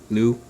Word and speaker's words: Liu: Let's talk about Simu Liu. Lou. The eye is silent.